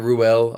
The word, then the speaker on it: Ruel: But yeah, no, it's just RUEL. Yeah, it's RUEL, right? Yeah, it's as it's spelt.